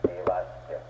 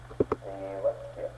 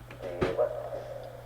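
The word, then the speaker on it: देवस्य: One correction, in pronouncing Devasya, some of you are lengthening the va a little extra, you're making it Devasya. Please listen carefully with me. Devasya. Devasya.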